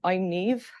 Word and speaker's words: Niamh: I'm Niamh, hello, not spelt like it's pronounced.